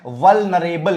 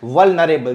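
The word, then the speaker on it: vulnerable: रहा है वो है वल्नरेबल कैसे बोलेंगे ऐसे इसको प्रोनाउंस करते हैं वल्नरेबल जोड़ दीजिए इसको वल्नरेबल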